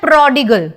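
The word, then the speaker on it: prodigal: अब एक बात बताओ इस शब्द की प्रनंसीएशन बताओ गर्ल गर्ल बोलते हो गर्ल गर्ल ठीक है मतलब ये वाला गर्ल स्पेलिंग वो है लेकिन प्रनंसीएशन ऐसी बोलोगे गाल ठीक है प्रॉडिगल मतलब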